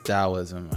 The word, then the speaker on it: Taoism: culture particularly within taism oh that's dosm I it looks like taism interesting way to spell it here are some major